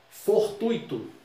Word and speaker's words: fortuito: Fortuito. Também não tem acento. A vogal mais, a sílaba forte é tui, fortuito.